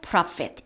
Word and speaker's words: prophet: 그러나 not just a prophet 이렇게 어를 강조해서 읽었죠. 지금 PH는 F 발음이지요. 그런데 A가 붙으면 많은 prophet 선지자들 중에 한 사람이라는 겁니다.